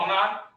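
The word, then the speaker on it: honour: তো অনার অনুরূপভাবে অনার এইচ এর উচ্চারণটা এখানে কি, এইচ এর উচ্চারণটা নেই, এইচ এর উচ্চারণ নাই, ও এর উচ্চারণ আসছে, তার মানে এখানে আমাদের হবে আমাদের এন হবে।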